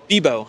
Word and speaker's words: Bibeau: old colleagues so Jeremy how do you say your last name bio Jeremy bio I it's the best